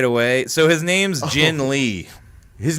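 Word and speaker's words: Ginn Lee: So his name's Jin Lee.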